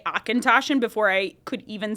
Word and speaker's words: Auchentoshan: we had to sell, but they gave me Auchentoshan, which the amount of times I had to listen to the person that I was on a ride with, say, Akintoshin before I could even say it.